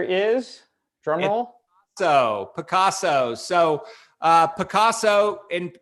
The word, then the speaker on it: Pacaso: So PACASO, and it's pronounced like most Americans anyway, pronounce Pablo Picasso, the artist.